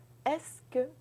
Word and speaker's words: est-ce que: That's very easy. You just think est-ce que. Don't write French this way. This is just to help you pronounce this. Est-ce que? Est-ce que tu parles français? And then you go up.